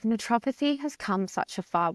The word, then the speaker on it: naturopathy: I kind of like to say it how it looks, naturopathy.